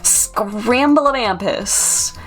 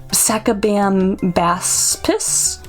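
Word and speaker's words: Sacabambaspis: I know I've been pronouncing it wrong, but in my mind, it's Scramble-a-bampus. I should give pronouncing it correctly a good try. Sacabam-bam. Sacabam-baspis?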